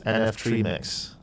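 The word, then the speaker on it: NFTremix: gets really cool um we're calling this nf tree mix that's how you're supposed to pronounce it actually uh it's gonna say nft remix and if anyone's interested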